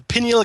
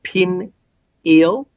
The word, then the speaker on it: pineal: Um, I I have to say that it's it's supposed to be pronounced pineal gland. And I apologize to all of those people who um took both sides of that argument. Uh the pin eel or pineal uh gland. It's in some cases mecha could be pronounced uh some say some dictionaries say both ways.